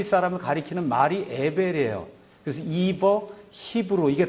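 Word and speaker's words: Eber: 에벨은 영어로 이버 이렇게 발음하는 거야.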